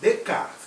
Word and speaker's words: Descartes: bacon mas agora vamos chamar o companheiro chamado edcar olha escreve desde descartes mais é de cá pronuncia ficar rendendo é caro e francis bacon francis